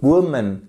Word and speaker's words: woman: qui se passe ici woman vous avez votre accent tonique sur la première syllabe c'est pour ça que